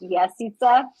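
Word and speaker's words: Jesika: No, my name in Serbian is Jessica, which is pronounced Jesica.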